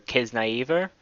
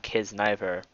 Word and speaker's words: Kiznaiver: episode 5 review for kids naive er yes I finally figured out the pronunciation it's not kids neither as probably America today it's kids naive ER so I'll be saying